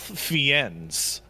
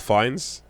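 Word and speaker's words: Fiennes: Um, what's up with discount Ralph Fiends as the inkeeper? What is up with that? Do you mean Ralph Fines?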